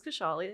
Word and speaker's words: Khushali: for the audience absolutely so my name is kashali as you said I'm in my late 20s